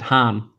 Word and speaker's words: Han: a nice see your how to say his name do you see Han or do you see Han well see this is the thing until I saw solo I've said Han yeah but I mean you see solo it's Han yeah yeah I know I know it is Han I think I've always